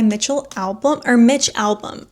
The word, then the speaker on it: Mitch Albom: It's by Mitch Albom is how you say his name.